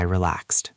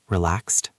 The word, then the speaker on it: relaxed: I relaxed. I relaxed. Do I pronounce the ed? Relaxed. Good question. No, it sounds like a t.